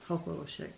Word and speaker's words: Chocholousek: Chocholousek. That's the last name. Hoholoshek. Yeah. Yes. And that's like the phonetic spelling. It looks like maybe you have there. That's awesome. That's how they pronounced it, Hoholoshek.